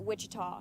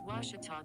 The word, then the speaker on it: Ouachita: at a baptist university back in texas everybody pronounces it wichita but really it's ouachita washington washington how would you pronounce it it's washita baptist university get it